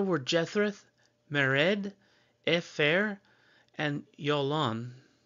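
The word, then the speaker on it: Jalon: The sons of Ezra were Jethreth, Mered, Epher, and Yolon, because the J is a Y pronunciation.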